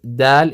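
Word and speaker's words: دال: This is the difference between dal and dhal.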